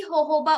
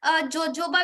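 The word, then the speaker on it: jojoba: दूसरा वो बनाए हुए हैं जी होहोबा ऑयल से, ठीक है। वो होहोबा ऑयल ये विटामिन ई रिच होता है, ठीक है। जोजोबा भी आप इसको बोल सकते हो, दोनों प्रोनाउंसिएशन इसकी होती है, ठीक है।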